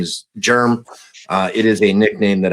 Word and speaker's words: Jerm: It's way easier than saying Jeremy, and it's spelt with a G, or it's spelt with a J, not a G. So not that kind of germ.